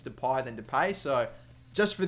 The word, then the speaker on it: Depay: actually going to be I am going to pronounce it as depay and not depay because I know the argument is there whether it's depay or deie but I've gone over